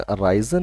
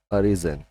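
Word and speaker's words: arisen: अरीजन third form, इसका pronunciation अराइजन नहीं पढ़ेंगे इसको, अरीजन, ठीक है।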